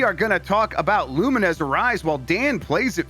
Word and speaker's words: Lumines: Apparently people pronounce Luminesz. Uh including Lumines.